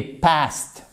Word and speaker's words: past: Donc en fait, vous mettez votre demi-heure, vous mettez pastè comme dans postérieur en français.